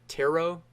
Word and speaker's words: tarot: market all three of these are tarik tarik taro taro cards I believe it's a silent e